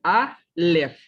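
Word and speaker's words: אלף: Entonces se combina una sílaba, la sílaba le, y tengo A, le. Y ya al final está una F que como no tiene ninguna vocal, entonces simplemente queda como un sonido consonántico. Y ahí dice Aleph.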